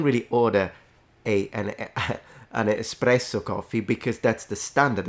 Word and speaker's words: espresso: on the fact that people mispronounce this Italian word and turn it into an X they say espresso whereas it's just espresso and even though that's